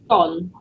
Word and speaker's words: scone: Okay, Charmaine, how do you pronounce SCONE? Gone.